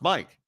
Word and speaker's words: Mikkel: Mike Chase, spelled Mikkel, pronounced Mike.